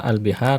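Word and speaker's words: البحار: Al-biharu, kata al-biharu. Kata al-bihar jamaknya Ya Pak, lihat di sini. Ketika al-biharu, A-nya panjang ya, bacanya al-biharu. Ya, kenapa dibaca panjang? Karena sebenarnya di situ ada huruf hamzah, huruf A yang artinya apakah?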